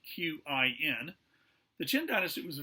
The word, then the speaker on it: Qin: Okay, the Warring States period came to an end with the rise of the Qin Dynasty. That's spelled Q-I-N.